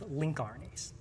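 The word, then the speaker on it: lincRNA: named long non-coding rnas which I'll pronounced abbreviation as link rnas so these are transcripts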